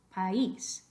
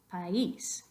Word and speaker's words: país: Acento escrito sobre I, país, país.